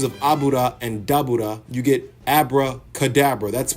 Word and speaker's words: Dabura: They mention that Dabra, which is how his name is supposed to be pronounced cuz it's a pun on something that I'm going to get to in a second.